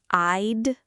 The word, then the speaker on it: I'd: It can be a bit hard to pronounce for some learners because of that 'd' sound at the end. 'I... I'd'. Yes, it is just a very quick, soft 'd' sound at the back of your mouth.